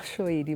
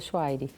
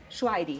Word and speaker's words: Choueiri: Choueiri? No Brasil se fala Choueiri, mas meu pai veio do Líbano, então o nome correto, a pronúncia correta seria Chouairi. Chouairi.